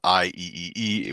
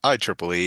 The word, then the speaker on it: IEEE: And so that's not IEEE. We pronounce it IEEE, and it stands for the Institute of Electrical and Electronics Engineers.